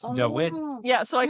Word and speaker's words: Dawid: So in Poland, when David, it's spelled with a W, right? So if you actually sound it out, it's Dawid.